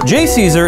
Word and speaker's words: JCESR: Which can be pronounced JCESR. JCESR is a research partnership between various academic and